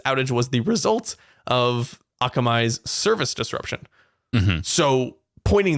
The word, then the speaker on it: Akamai: Akamai? Mm-hmm. Akamai? Mm-hmm. Any of them. And Oracle, two key providers of internet infrastructure services. Oracle said Thursday afternoon that its outage was the result of Akamai's service disruption.